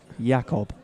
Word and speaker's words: Jakob: Spelt with a J, but it's pronounced with a Y. Jakob.